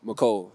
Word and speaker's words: Mecole: Micole. Micole. Not Mikl. It's Mico.